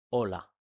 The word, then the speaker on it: hola: la clase del abecedario, que la H no suena en español, ¿sí? Es hola, ¿vale?